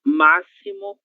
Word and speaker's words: máximo: E a letra X também terá som de S em alguns casos, certo?